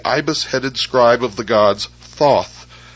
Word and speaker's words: Thoth: Scribe of the Gods Thoth pronounced tehuti the so-called Emerald Tablet